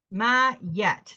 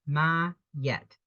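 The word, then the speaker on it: Maat: yourself the friends will come now we got ma yet that's how she's pronounced my yet is an ancient Egyptian deity associated with truth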